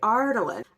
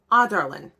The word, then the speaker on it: Adarlan: first A because it sounds so much better to say Ardalan. But it's Adarlan.